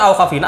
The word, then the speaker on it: Awkwafina: Itu dibaca Awkwafina.